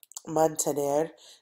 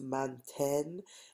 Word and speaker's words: mantén: And so we have to put the E, the accent over the E, so that it gets pronounced manten instead of manten.